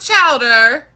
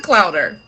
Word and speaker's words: clowder: It's not chowder. I see somebody say a clouder. It is a clouder. Bum, bum, bum, bum, bum. A group of cats is called a clouder, and it's spelled Clowder. Clow, like claw, but with an O.